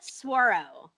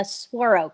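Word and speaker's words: saguaro: know how it's pronounced i call it suarow oh that's probably the currency i lived in arizona for like four months and it i was told it was called a swaro cactus so i can't speak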